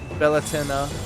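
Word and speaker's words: Bealtaine: Beline pronounced Bellatennena is Irish is the second largest holiday in the pagan calendar behind Sam Hayne.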